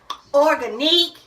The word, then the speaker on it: Organique: We say organique. It's not organic because we see the QUE is not organic.